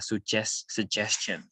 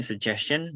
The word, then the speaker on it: suggestion: Ada G yang dibaca J atau J. Oke. Oke, misalnya suggestion gitu ya, suggestion. Suggestion. Nah, ini suggestion G-nya dibaca J. Suggestion.